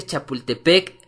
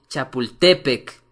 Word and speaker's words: Chapultepec: vida salvo raras excepciones todas las palabras son graves es decir dicen Chapultepec con acento en la primera e y no en la segunda es decir cuando se dice Chapultepec es incorrecto la forma correcta es Chapultepec y más correcto sería